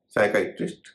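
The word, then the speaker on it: psychiatrist: इसी तरह साइकाइट्रिस्ट, पी एस वाई सी एच आई ए टी आर आई एस टी, इसमें भी पी का उच्चारण नहीं हो रहा है।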